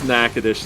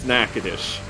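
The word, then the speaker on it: Natchitoches: yeah that's for now it's nakadash thank you oh anyway no it's it's nakadish um yes yeah uh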